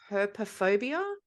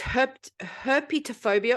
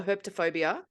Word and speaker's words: herpetophobia: It is called, I think it's pronounced herpophobia. I remember the herpy bit in it. Or crocodilophobia. I'm not making this up. Let me just consult the judges. Fear of crocodiles. Okay. Sorry, it's herpetophobia or herpetophobia, which is the fear of reptiles.